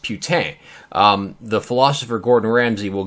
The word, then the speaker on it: Putin: are probably wondering andrew that's not how you say his name it is putin or putin you know like hey that guy's putin over there no believe it or not i'm kind of a linguist his last name is putin and if you listen to the podcast i'm going to play a clip which explains why it is pronounced putane the philosopher gordon ramsay